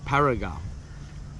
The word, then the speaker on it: Barigar: Eventually get to the campground, which is Barigar campground, pronounced Barigar campground.